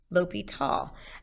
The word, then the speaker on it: L'Hôpital: L'Hôpital. And yeah, that's how you say it. It looks a lot like the word hospital.